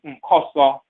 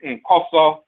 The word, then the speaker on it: Nkoso: Koso is called Nkoso. That N is a nasal prefix, but the root is koso.